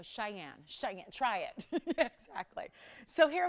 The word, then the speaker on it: Cheyenne: is pretty tricky and i would call it xingyeong that's what i pronounced it and yes it was like you know cheyenne try it exactly so